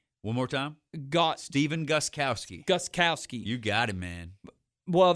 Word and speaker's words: Gostkowski: But the biggest story probably is Gostkowski. One more time? Steven Gostkowski. Gostkowski.